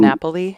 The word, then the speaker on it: DiNapoli: And then John DiNapoli, is that how it's said?